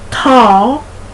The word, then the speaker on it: tall: Tall, but that's not spelled T-O-L-L. It's spelled T-A-L-L, like all, tall, hall, all, and tool.